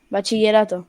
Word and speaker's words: bachillerato: 2 years of a thing called bachillerato. Ba- But in total, it's bachillerato. It's like Bachillerato. I am pronouncing it wrong. yeah, I know. no, Bachi you're pronouncing it good. Bachillerato.